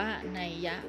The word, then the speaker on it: นัย: คำ ต่อ ไป ค่ะ คำ ว่า ใน อ่าน ว่า นาย หรือ อ่าน ว่า นัยยะ ก็ ได้ นะ คะ หมาย ถึง